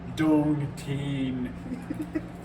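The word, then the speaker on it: 冬天: I like the pronunciation for winter. Dong Teen. It's like Dogecoin. Dong Would be Teen.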